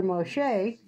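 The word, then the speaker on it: משה: be a girl so you pronounce Moses in Hebrew Moshe so Moses turned into Moshe and we call her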